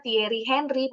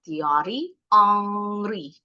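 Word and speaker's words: Thierry Henry: Kalau bahasa Prancis huruf H di depan enggak bunyi. Cowok. Makanya itu nama pemain bola. Orang Indonesia nyebutnya Tieri Henry. Pemain bola zaman dulu seangkatannya David Beckham kalau enggak salah. Tapi pengucapan yang betul teori angri hak-nya enggak bunyi.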